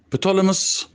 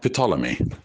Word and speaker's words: Ptolemy: told me the 14s petalumus is the way how the name or this title is pronounced the ptolemus not but lamios are not but limos or not petalumy the way how I pronounced it at the beginning is from the hieroglyphic cartouches which were depicted on the walls of the temples how did she die